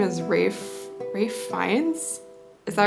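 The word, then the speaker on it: Ralph Fiennes: I think you pronounce his name as Rafe Fiennes?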